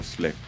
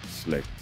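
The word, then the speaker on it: Slægt: And if you have some trouble pronouncing our band name, but you are familiar with the English language and you know the word respect, then you could say have respect for Slicked. Equally, if you know the word wrecked, you could say get wrecked with Slicked. So once more, after me, slowly, Slicked.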